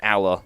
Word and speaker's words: Ala: Ala Daniel, the guide, says Ala like alligator.